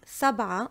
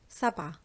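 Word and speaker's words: سبعة: means nine thousand so when I'm saying Sabah on its own I do not pronounce the tab at the end Sabah but when it's with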